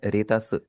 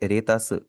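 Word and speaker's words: レタス: रेतस। Latus को हम Japanese में कहेंगे रेतस।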